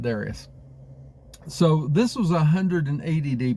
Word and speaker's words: Darius: avenge the defeat that his father Darius had, or Darius, however you pronounce that. Most people pronounce it Darius.